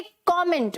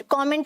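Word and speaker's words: comment: find तो क्या बोलोगे कमेंट कमेंट का मतलब क्या होता है अपनी राय देना ठीक है अपने व्यूस देना प्लेयर क्या बोलना है कॉमेंट कैसे बोलना है कॉमेंट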